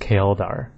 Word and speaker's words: Chaeldar: I always said Chaeldar, but it's actually pronounced Chaeldar. So like kale, like Chaeldar.